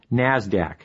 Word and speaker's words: NASDAQ: Stock Exchange NYSE and the NASDAQ which is pronounced NASDAQ NASDAQ stands for the National Association of Securities